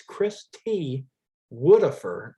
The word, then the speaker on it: Christwodafur: like mine is like that because it's it's chris tudofer um but i think everybody pronounced it as oh yeah it's chris t woodifer yeah that's that's his name um uh yeah